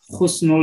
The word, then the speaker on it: Husnul: saya dapatkan infromasi pengucapan Khusnul Khotimah dan Khusnul jadi hak dan hop itu adalah artinya beda Jadi kalau hak Husnul itu akhir yang baik Kalau Husnul pakai Holy tuakhir yang hina Apakah seperti itu Wow